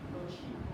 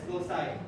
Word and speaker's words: loci: They have the same gene, no chi. Okay? They have the same gene, no chi. Yeah, it's pronounced as loci.